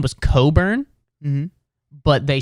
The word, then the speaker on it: Cockburn: his last name was Coburn but they spelled it c-o-c-k b-u-r-n his last name was cockburn but they just did the biggest mental gymnastics of all time to be like this is Coburn it's a real like